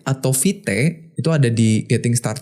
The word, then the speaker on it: vite: vit ya vit gitu jadi nyebutnya kayak vit bukan fight bukan vit ya Coba